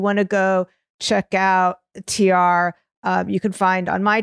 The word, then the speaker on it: Tiare: So one word, Tiare Smith Art. And it's TIARE. Yes. .art. Right. It's pronounced, like the two letters, but TIARE.